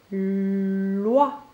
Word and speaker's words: loi: Loi commence par la lettre L pour faire le son L et le son OUA qui s'écrit avec le O et le I.